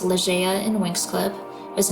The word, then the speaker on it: Ligea: Ligeia in mythology, pronounced Ligeia in Winx Club, was not Neptune's wife, unlike the Andros royal family.